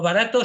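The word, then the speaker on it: Bharat: India sino de barat y Cómo se escribe b b rta como barato sin la o y con una H detrás de la B bha rat barat es la primera vez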